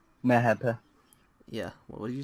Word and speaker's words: MHP: Mehepe. Yeah. What did you say? Mehepe. MHD. That's how you say it in Turkish if you want to say MHD.